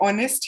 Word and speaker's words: honest: कोई ऐसा इंसान नहीं मिलेगा आपको जो बोलेगा नहीं मैं तो हॉनेस्ट बोलता हूँ, बाकी सब लोग ऑनेस्ट बोलते होंगे, आई से हॉनेस्ट सो आई am going to यूज. ऐसे नहीं होगा.